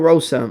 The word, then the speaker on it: Rosa: here I like Carol Rosa I like Carol Carol HOSA Carol Rosa like I said if if you want to correct me for how I'm pronouncing it go ahead but I believe it's HOSA I like Carol HOSA